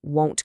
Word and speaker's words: won't: You must use the rounded O sound. The kids won't go to sleep. Be very, very careful with your pronunciation here. It's ah versus O.